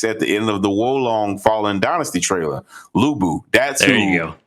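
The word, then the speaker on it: Wo Long: say bobo's maybe because uh i mispronounced the title of the game but it's woe long fallen dynasty and at the end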